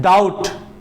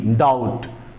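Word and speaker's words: doubt: date का अर्थ कर्ज होता है दूसरा है डाउट डी ओ यू बीटी डाउट तो टी से पहले दोनों लेटर में हम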